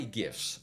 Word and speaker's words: GIF: uh it's by the as stated by the author it's pronounced like Jeff and that is a